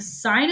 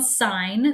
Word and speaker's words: sine: that's our first one sine so you pronounce it sine even though it looks like sin okay the next one